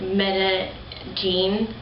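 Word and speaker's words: Medellín: We went to Medellin, which is pronounced like Medellin.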